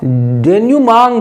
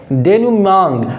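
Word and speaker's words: denouement: भी आपको आता है डी ई एन ओ यू ई एम ई एन टी इसको आप डेन मांग पढ़ेंगे क्या पढ़ेंगे डेन मांग और यह एक यूएस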